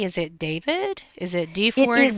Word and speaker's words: D4vd: and he just says his name is David and he just says it David.